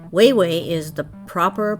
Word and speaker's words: Wawa: it would be but because there's only a singular a at each end it is way way it's just the way